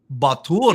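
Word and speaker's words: Bar Tur: specializing in crisis communications and law enforcement, Batur.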